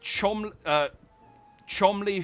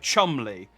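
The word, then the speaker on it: Cholmondeley: cutscene I just dropped my controller uh it's pronounced Chom Ley fan Shore Marsh Banks is how you pronounce those three words I was like Chumley Fanshawe Marsh Banks yeah they're just nonsense words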